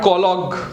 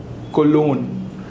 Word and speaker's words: cologne: So not collogue but cologne.